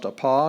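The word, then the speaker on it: ἀπό: you're reading and you come across a paw you say apa when you're reading and you say up or when you see op you just say op okay it doesn't change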